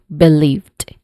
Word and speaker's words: believed: And uh um as far as you can remember uh I have a discussion about um the different um sounds the different versions of ed sounds one of which is letter t sound. So this is um this is the sound that is produced in this word believed.